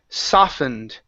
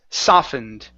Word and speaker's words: softened: And the only other one here is the word softened. Okay. Yeah, this T we don't need to pronounce. Yeah. Okay, so it's softened.